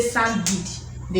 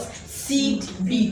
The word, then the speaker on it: seed bead: what you mean but when you say sand be they will understand but the actual pronunciation is what seed be again seed bead seed be very tiny beats beats